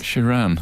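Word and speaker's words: Sheeran: I have to say every time Ed shiron was mentioned on the night I couldn't resist going shiron she which is not how not how his good friend Elton John pronounces it is itan he said it more like one of the Lion King characters shiran yes a good job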